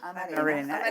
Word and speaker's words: amarena: Amarena. Yes. Change the accent. I think it's Amarena.